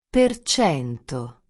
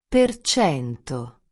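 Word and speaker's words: per cento: decimos porcentaje ni símbolo, simplemente decimos el número y luego decimos perchento. El símbolo por cento solo nos ayuda a saber que estamos hablando de porcentajes, pero cuando hablamos lo que pronunciamos es perchento.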